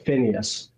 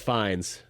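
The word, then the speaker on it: Fiennes: I always thought it was Joseph Phineas. Is it Joseph Fines or Phineas? I think it's Fines. Okay. Anyways, does it does look like if you're an American, you would pronounce it Phineas, I think.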